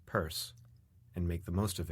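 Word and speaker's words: Pierce: She had one president, pronounce him Purse, and make the most of it, for better or worse.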